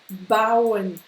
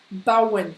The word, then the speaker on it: bauen: Donc c'est AU, mais qui se prononce AO. D'accord? AO. AO. D'accord? On le trouve par exemple dans bauen. Bauen. Construire. D'accord? Bauen.